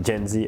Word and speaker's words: Mjenzi: Is that how do you pronounce Mjenzi. it? Mjenzi.